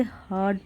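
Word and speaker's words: heard: ही हर्ड, उसने सुना, तो यहाँ पे आर आपका साइलेंट होता है, इसे हर्ड प्रोनाउंस करेंगे।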